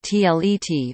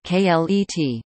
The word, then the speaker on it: Kleid: the word clade dress can be pronounced as either tlet or klet.